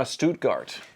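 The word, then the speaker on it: Stuttgart: it looks great I don't know how to pronounce the name how do you say that uh stutgart that's where they the video that they build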